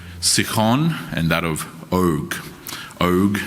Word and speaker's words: Og: Og, as in Ogre, is how it's pronounced for anyone who happens to be wondering.